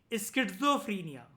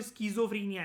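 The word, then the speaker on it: schizophrenia: इस वर्ड के अंदर कहीं पर भी टी नहीं आता, लेकिन प्रोनाउंसिएशन में साउंड होता है टी। स्किज़ोफ्रेनिया बोलते, लिखते हैं हम इसको स्किज़ोफ्रेनिया है।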